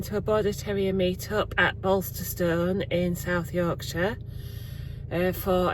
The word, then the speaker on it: Bolsterstone: I I said it I've said it wrong a couple of times already, but it's Bolster Stone and it looks lovely.